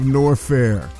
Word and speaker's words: Norfair: in the land of norfair rhymes with warfare and that's what metro